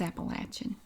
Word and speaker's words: Appalachian: we do pronounce it Appalachian here if you pronounce it Appalachian we know you're not from here it's appalachin eastern North Carolina settlers the South faced political